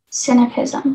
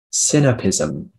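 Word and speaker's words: sinapism: cynicism can you repeat the definition please uh cynipism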